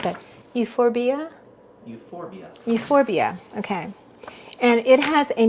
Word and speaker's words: Euphorbia: Spurge is a how would you pronounce that? Euphorbia? Euphorbia, okay.